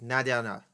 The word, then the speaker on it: Nadie en el: Like it's called No Abra Nadie en el Mundo, but she says Nadie and L all in almost one syllable. Mm. Like Nadiana, Mm. Nadiana. I can't even do But it.